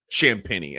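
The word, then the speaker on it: Champagnie: a hard time that his last name is spelled basically like Champagne, but you pronounce it Champini.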